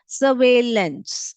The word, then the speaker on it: surveillance: इसको यहाँ पर जो लिखा है उसका ही प्रोनाउंसिएशन है, सर्वेलेंस, surveillance.